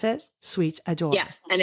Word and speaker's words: Suite Adore: So first of all, Ashley has a company online called Sweet Adore. Is that how you pronounce it? Sweet Adore. Yeah, and it's sweet like hotel suite.